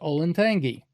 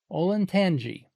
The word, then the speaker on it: Olentangy: And sure enough, somebody decided it should be pronounced with a soft G. Olentangy.